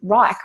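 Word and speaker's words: Wrike: I use Rike, a product called Rike, which is spelled W-R-I-K-E.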